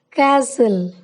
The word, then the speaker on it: castle: T is silent in the following words: castle, Christmas, fasten, listen, often, whistle, bustle, hasten, soften.